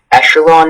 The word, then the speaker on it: echelon: Echelon is the only pronunciation.